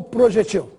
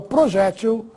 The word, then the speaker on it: projétil: mais usual porto ipp projete o projéctil novamente duas palavras que estão corretas mas se você quiser arremessar aqui tem preferência usa forma projétil com acento triplex o tríplex apesar